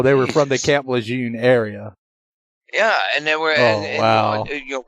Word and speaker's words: Lejeune: all these NCIS agents they were pronouncing Lejeune Luzerne and it was driving